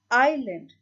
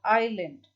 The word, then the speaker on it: island: form peninsula very good island now you see this is spelled as i s n a and d but s is silent you've learned this in